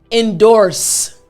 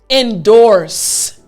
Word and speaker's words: endorse: So the entire word after me, endorse. Yes, last time after me, endorse. Excellent. This is how you pronounce the word endorse.